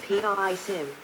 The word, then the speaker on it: PrSM: the Precision strike missile prsm pronounced p i Sim is a short range